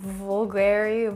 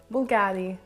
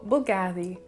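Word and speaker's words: Bvlgari: i completely get it i guess people can pronounce it vulgari vulgari i mean it's weird bv we never see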